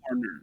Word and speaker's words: Werner: Still Warner.